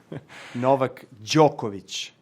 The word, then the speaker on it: Novak Djokovic: Hi, I'm Novak Djokovic, and I'm doing a Wired Autocomplete interview. Autocomplete. And this is just the beginning. How does Novak Djokovic pronounce his name? Novak Djokovic.